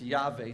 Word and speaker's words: Yahweh: Oops, we're pronouncing it. We just take a shot at it and say it's Yahweh.